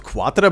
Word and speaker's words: Quatre: My name is Quatre. I'm an assistant at the Institute of Science. Not Quatre, but Quatre? The U is silent? Okay.